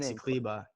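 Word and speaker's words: Maxi Kleber: Maxi Kleba.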